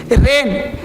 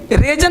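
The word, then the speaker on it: reign: अब यहाँ पे नेट, जी नेट नहीं बोलेंगे, रेन, रेजन नहीं बोलेंगे, रेन, है ना, डिसाइजन नहीं बोलेंगे,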